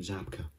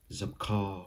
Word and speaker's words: Zabka: actor is william zabka i think people overthink it sometimes i think it must have some weird pronunciation on the last names now they'll try and say william zamkar or zubaca or something because they think it's gonna be differently pronounced but it isn't so another one that